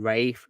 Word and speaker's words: Ralph: is probably Ralph finds I know people call him Rafe for some reason but I call him Ralph because that's how that's